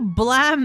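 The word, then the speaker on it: BLAME!: It's meant to be blam as in the sound of the gun, but for some reason they spell it blame.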